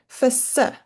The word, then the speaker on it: visse: So, vis, it's like blom. Visse, blomme. It's short syllables, so the S is going to duplicate here.